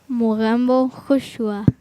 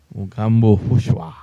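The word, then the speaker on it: Mogambo khush hua: Mugambo Hushua. Mugambo Hushwa.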